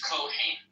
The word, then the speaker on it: Kohen: Cohen? Am I mispronouncing it? Yeah, in Hebrew it's Kohen.